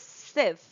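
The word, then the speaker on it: sieve: s c s c s c s c siv s c s c s c s c s c s c s c s c s c s c the correct pronunciation is civ not se a sif is a kitchen tool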